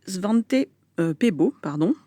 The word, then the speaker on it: Svante Pääbo: On y entendait Svante Pääbo, pour la prononciation, qui a reçu le prix Nobel en